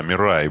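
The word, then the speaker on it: Mirai: Мирай, наверное, да, Мирай, правильно это произношение.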